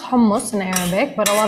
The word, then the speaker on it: hummus: let's talk about hummus yeah so um it's pronounced homeless in arabic but a lot of people say hummus even in the middle east people refer to